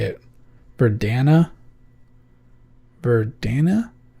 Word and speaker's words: Verdana: say it for Dana verdana I just realized I call I actually pronounce this veranda and that's not how it's spelled so anyway I've been